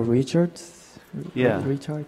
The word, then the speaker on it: Richards: Bro, you pronounce my name. Richards?